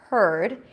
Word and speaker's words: heard: I heard the nose heard H EA Rd heard so it's a the stur sound it's an H sound